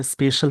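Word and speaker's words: special: Pakistan offering स्पेशल, इसको स्पेशल पढ़ते हैं, स्पेशल। जैसे इसको ऐसे लिखेंगे स्पेशल, यहाँ पे प्रोनाउंसिएशन शल हो जाएगा, यानी शाम वाला श।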